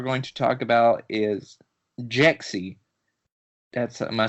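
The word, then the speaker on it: Jexi: first trailer we're going to talk about is Jaxy that's am I saying it right jexy yeah so exact Zach what's a little bit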